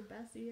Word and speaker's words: Bessie: I could call her Bessie. It rhymes with messy.